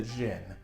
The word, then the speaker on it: djinn: The general term genie has evolved from what we call Jinn, or sometimes with a silent D, like Jinn.